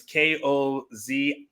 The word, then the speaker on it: Koziol: I think it's Kozoil. It's Koziol. He might be the only